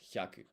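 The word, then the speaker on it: ひゃく: And so this hi and ya becomes a blended syllable, hya, and then we stick ku at the end, and it's a job done.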